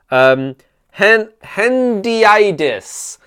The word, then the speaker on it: hendiadys: Hendiadys, pronounced hendiadys.